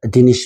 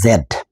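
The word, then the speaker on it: Z: এখানে একটা জিনিস বলে রাখি আমেরিকাতে এই জেড এটাকে বলে জি বড় জি এটা একটু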